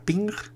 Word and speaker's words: PNG: gráficos de red portátiles que se pronuncia ping es un formato gráfico